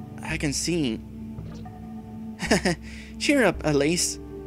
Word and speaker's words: Alayss: can see cheer up Alise which is how we pronounce your name I found that out